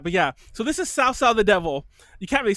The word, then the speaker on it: Cao Cao: I'm actually pronouncing it badly, but it's Cao Cao. It's like TS. It's kind of a TS sound.